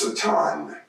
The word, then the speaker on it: Satan: The word Satan itself is a Persian word which is pronounced Satan, and it did not even enter into the holy canon of God until after the Babylonian exile.